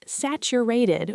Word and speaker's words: saturated: We pronounce it saturated with a stress on the first syllable, sat.